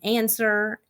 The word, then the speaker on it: answer: have to memorize that the W and answer is completely silent and doesn't say anything at all it's just there that's just the way the word is spelled all right I hope